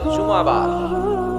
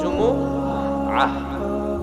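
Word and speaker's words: جمعة: আমরা এটারে শুক্রবার বলি, আসলে বলা উচিত জুমাবার। কিবা? জুমাবার। সূরাটার নাম হচ্ছে সূরাতুল জুমুআহ। আমার সাথে সাথে বলেন সূরাতুল জুমুআহ। সবাই বলেন সূরাতুল জুমুআহ। অনেকে বলে ফেলে জুমা, জুমা। আসলে আরবিতে শুদ্ধ উচ্চারণটা হচ্ছে জুমুআহ, সূরাতুল জুমুআহ।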